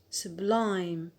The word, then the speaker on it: sublime: Why on the alt? Because we have applied the rule 1a, diphthong plus consonant. We have the diphthong a plus the consonant m, so the stress is on the alt, sublime.